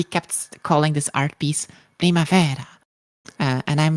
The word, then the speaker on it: Primavera: by saying that nope it's actually an Italian painting and then it's pronounced Primavera oops that was very